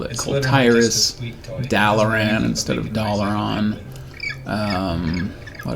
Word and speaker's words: Kul'Tiras: I play it is I pronounced everything different when I was a kid, because, you know, they didn't often pronounce it in the actual game, and so, like my brother and I called it Kul'Tiras or something. What did we call it? Oh, Kul'Tiras, that's what we called it.